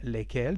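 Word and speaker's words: lesquelles: So we have the masculine form lequel, the feminine form is laquelle, and the plural masculine lesquels, feminine lesquels, the same pronunciation but with double L-E-S.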